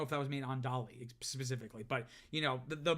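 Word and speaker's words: DALL-E: including by open AI with their Dolly um spelled like Wall-E but with a d so it's kind of referenced to it be robotic or futuristic but also like Dolly like Sal Salvador Dolly and that's their image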